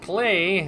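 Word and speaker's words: Klei: bladder okay it's pronounced play their weekly div streams on Thursday are actually called rhymes with play ah good to know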